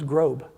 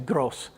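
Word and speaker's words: groß: I'd never seen before it's G ro and then it's thing that looks like a capital cursive B and so I thought that word was Grob that's what it looked like Grob I didn't know that thing is called an ed set or a Schaaf SS and it sounds like two S's so it's actually gross so the most expensive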